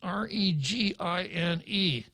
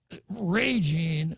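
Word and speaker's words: Régine: senator lee's name is r-e-g-i-n-e with a uh strong accent mark over the e meaning that the stress is put on the first syllable not the last now i i would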